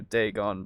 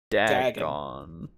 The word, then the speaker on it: Dagon: gone at the end so I would think logically you would go daygon before dagone sorry you're right you're